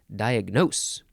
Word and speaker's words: diagnose: to say that word it's diagnose or diagnose or diagnose you've got to emphasize the last syllable diagnose it is a verb